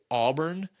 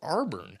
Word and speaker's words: Auburn: know the entire world how you pronounce auburn and it's auburn and he's like no no arborne i was like what